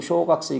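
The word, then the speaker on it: 小学生: 그 다음에 이거 쇼각세 이것도 이게 깁니다. 길어. 쇼각세입니다.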